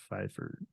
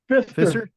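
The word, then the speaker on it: Pfister: Deck um Mr feifer F fiser fizer FIS Fister F how do you say your name Fister F just like Fister faucets or Price Fister the PS well thank you I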